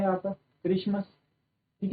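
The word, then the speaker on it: Xmas: बट इट is usually pronounced eight Christmas. इसको हम क्या है? क्रिसमस ही प्रोनाउंस करते हैं। नॉट एक्समस।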